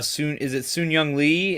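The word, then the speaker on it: Sun-Hyung Lee: Sun Young Lee is how he pronounces his name.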